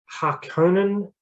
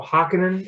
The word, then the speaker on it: Harkonnen: is a lot more harkonnen um well an angle to the house harkonnens or harkenin as they say in the new movie i don't like that pronunciation um in this book